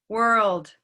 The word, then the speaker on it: world: in the chat so the l sound is not as simple as we may think it is it's easy to think that it's only the sound that we we touch our tongue up at the top everybody says okay so that's what we call the light l but there's a different